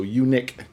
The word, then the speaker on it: uniq: conjunction with sort called unique and it's spelled you and I Q but not the you eat so you Nick not gotcha so what